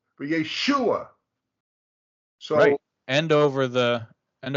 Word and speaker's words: Yeshua: how to chant and the result Mark is always put over the syllable that is accented so if you go to the top don't move it but first Chronicles 24 11. okay you'll see that above the shin the third letter is the mark to show how it's sung yeah that little curvy guy right there right exactly but it's over the shoe part but Yeshua sorry end